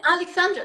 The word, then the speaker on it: Aleksandra: By the way, am I pronouncing correctly, Aleksandra? Yeah, Aleksandra, like Hürrem Sultan, her Ah, I name was see.